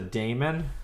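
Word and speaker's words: daemon: what it has a Damon no can I use Pudo sure sure uh it's pronounced demon I can't believe you're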